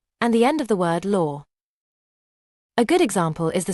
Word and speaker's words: öl: And the last one is the letter O with anlout which is pronounced like the sound in the word her. This letter can be found in the Swedish word for beer. L.